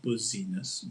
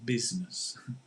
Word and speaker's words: business: Business, not buzziness, business.